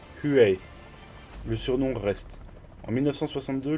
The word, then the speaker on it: Huey: HU-1 se prononce approximativement Huey.